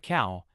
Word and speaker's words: เขา: Pronounced like cow, as in the animal.